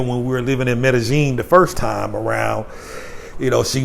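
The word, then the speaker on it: Medellín: But here in Colombia, double L's are pronounced as J's, make a J sound like ja. So like it's not Medellin, it's Medellin.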